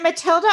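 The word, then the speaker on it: Mathilde: hello there you are is it Matilda or matild it's just matild but Matilda is fine Ma I I pronounced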